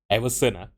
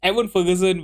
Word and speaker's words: Evan Ferguson: by everon Evan Ferguson why am I always pronouncing his name as Everson it's Evan Ferguson with our first goal